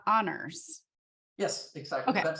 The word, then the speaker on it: Anders: is perfect okay great yeah oh so it's honors yes exactly that sounds weird in English so